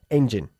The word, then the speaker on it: engine: Engine. Engine. Enfatizando la primera sílaba. ¿Eh? Engine.